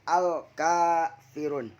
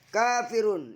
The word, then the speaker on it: al-kafirun: Al-ka, alif lam komariah. Karena alif lam bertemu dengan salah satu huruf komariah, yaitu huruf kaf. Cara membacanya yaitu dengan jelas. Setelah berlaku hukum mad tabi'i karena kaf fathah bertemu dengan alif, dibaca 2 harokat.